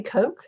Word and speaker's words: Koch: Is it Kathy Koch? Is that how you say it? Koch or Koch? Cook. Yeah, Cook? Kathy Cook. Cook. Yep. I got it Mhm. wrong. Kathy Yep. Cook.